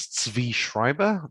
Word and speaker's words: Zvi Schreiber: My name is Zvi Schreiber. That's spelled, Zvi is spelled ZVI or ZVI.